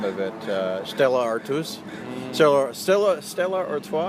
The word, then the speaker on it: Stella Artois: Stella Artois, I think is how it's pronounced.